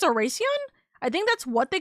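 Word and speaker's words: Oración: It's got Spanish roots. The C is pronounced with an S. So, Oracion.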